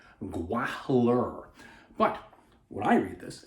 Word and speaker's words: Gwahlur: The Jewels of Gwahlur. See, I keep switching fangs and jewels back and forth too. And you notice how I pronounce the H in there between Gwa and Lur.